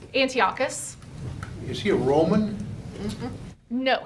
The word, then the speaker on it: Antiochus: We probably missed one of the sessions, but Antioch's, how do you pronounce it? Antiochus.